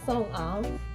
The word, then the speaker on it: Sung-ah: Yeah, it is like more separately because A is like independent A, so like Sung-ah.